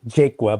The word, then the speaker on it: Jaqua: Ado uh the Let's uh bring uh Mr jaqua uh am I pronouncing that correctly sir uh actually you pronounce it jaka but that's okay nobody gets it right the